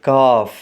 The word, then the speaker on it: calf: ہے۔ پہلا ورڈ ہے CALF جس میں L سائلنٹ ہے، اس کو پڑھیں گے کاف، یعنی گائے کا بچھڑا۔ Next word